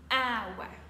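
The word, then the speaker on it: hour: qu'à l'école en anglais on a appris à bien prononcer le H par contre dans ce motl et dans quelques autres ce n'est pas nécessaire pour dire he en anglais on dira ah ouais encore une fois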